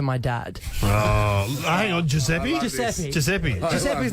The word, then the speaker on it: Giuseppe: It's a bit more of a G than a J. Sound like a Giuseppe. Giuseppe. A bit more of a soft G there.